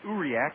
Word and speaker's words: Uriak: You really pronounce it Uriak, but that's awfully tough for me to say.